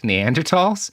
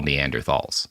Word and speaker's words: Neanderthal: uh where he had proposed bringing back Neanderls which people always get angry are like Robert you're mispronouncing it again. That is how you say what most people call Neanderthalss.